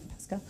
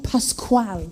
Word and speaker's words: Pascual: Are you just having a hard time pronouncing Pascal? But no, that's how he said to say it, because that's what I'm like, Pascal. No, Pascual. So he had a hard time pronouncing his own He name. had a hard time. Yeah. And I didn't want to insult him by telling him how to say his own name.